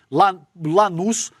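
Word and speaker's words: Lanús: E essa declaração veio depois da derrota do Flamengo pro Lanuz. É isso, né, Lê? A pronúncia desse time aqui, Lanus, por 1 a 0 no jogo de ida da Recopa Sul-Americana, tá?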